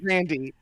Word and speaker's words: Grande: Lisa's annoyed, saying we do not pronounce the E in Grande, but we do. Apparently she does. She does. Her family... Ariana Grande.